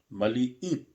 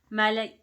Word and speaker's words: maliit: Maliit. Malait. Yeah, maliit. Is it M-L-I-T? Yeah, M-L-I-I-T. Ah, maliit. So 2 I's. That's why you sounded that way.